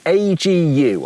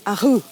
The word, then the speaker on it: AGU: It's not AGU. Agu? No, Ahu. Bless you. No, that's how you say it. Really? Agu? Apparently, it's not AGU or Agu. They're a Dutch brand, and that's how you pronounce it.